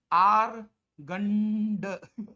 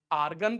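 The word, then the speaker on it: Argand: तो इस प्लेन का नाम दिया गया आर गंड प्लेन क्या बोला गया इसको भाई आर्गन प्लेन मतलब इसमें डी साइलेंट होता है आर्गन plane आर्गन plane treat as treat as treat as एज xy plane.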